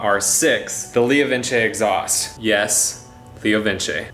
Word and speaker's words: LeoVince: Yes, LeoVince. They're an Italian company, so it's not pronounced like Vince, it's pronounced Vince.